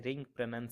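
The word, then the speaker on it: wring: दोस्तों, यहाँ 'w' silent है। हम इसका उच्चारण 'रिंग' करेंगे। उसे पैसे दे दो।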